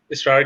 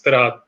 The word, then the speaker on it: Tarad: Yeah, so इसलिए Oh, काफी लोग इसरार कहते हैं, but it's Tarad.